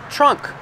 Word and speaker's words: trunk: this is the trunk trunk that's right make the TR sound with a CH unk this is the trunk